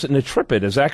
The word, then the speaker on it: Netrepid: I think we pronounce it Nitripid. Is that correct? Welcome to the program, Sam. Good morning. How are you? Yeah, good. Nitripid.